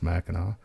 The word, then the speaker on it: Mackinac: It's spelled Mackinac, but it's Mackinac.